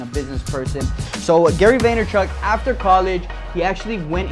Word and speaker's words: Vaynerchuk: His name is Gary Vaynerchuk, as he likes to pronounce it on his YouTube show, Ask Gary